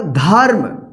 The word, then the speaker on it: धर्म: जैसे यहाँ पे देखिए ध और म के ऊपर रेफ, तो क्या होगा धर्म, धर्म।